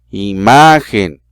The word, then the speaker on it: imagen: Grave, imagen, se escucha más fuerte, ma.